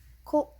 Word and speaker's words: 子: So child is pronounced ko, usually.